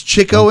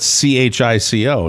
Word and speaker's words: Chico: i don't know but i know how groucho pronounced it he called him chicko so and but you know what i grew up saying chico so i accept both i do exactly i